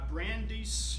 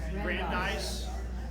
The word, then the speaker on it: Brandeis: and he goes to Brandis University that I pronounce it Brandeis thank you Brandeis University some very prominent